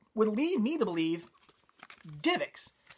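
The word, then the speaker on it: DivX: going to go with divix cuz right there they spell it capital D lowercase ivx that's that'd be divix not D IX so I'm I'm like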